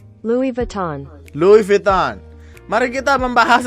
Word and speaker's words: Louis Vuitton: gue belajar betul Gimana cara bacanya Louis Vuitton pronounciation Louis Vuitton Louis Vuitton Mari kita membahas tentang polemik kasus